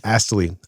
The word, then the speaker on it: Astley: well, how do you say his last name? Astley? Astley. So Rick Astley had a major donkey. yes. You got to say the T.